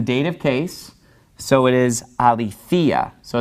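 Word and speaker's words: ἀληθείᾳ: case so it is a lethea so it's pronounced a little bit differently because the accent is falling on this later syllable that accent marks right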